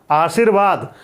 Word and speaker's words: आशीर्वाद: दो वर्णों के बीच में स्वर रहित रा था, तो जहां इसका उच्चारण हो रहा था वहां पर हम इसका उच्चारण नहीं कर रहे हैं। हम कहां पर चला गया?